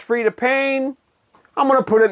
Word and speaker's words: Payne: And Pain, of course, spelled like her last name with the Y, you know, P-A-Y-N-E.